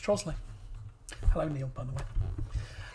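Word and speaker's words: Trottiscliffe: has um it's a very old word it's pronounced trosley hello neil by the way i did watch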